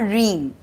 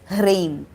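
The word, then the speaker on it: ह्रीं: the pronunciation of reem it's not dream it's reim so the tongue goes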